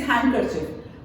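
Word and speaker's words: handkerchief: हैं हैंड कर चफ पर हैंड कर चफ में डी बीच में साइलेंट है राइट तो इट इज हैंड कर चफ माय हस्बैंड इज अ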